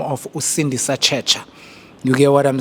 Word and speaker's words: Sindisa Tshetsha: Our guest today all the way from a side uh a gentleman by the name of Usindi Sacha.